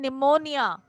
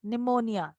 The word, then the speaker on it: pneumonia: She was suffering from pneumonia, a disease which is caused due to infection in the lungs, pneumonia, right? And please keep the spelling in mind. P is silent here for the pronunciation and spelling में NEU है.